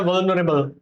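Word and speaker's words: vulnerable: इसको बोला जाता है वनरेबल।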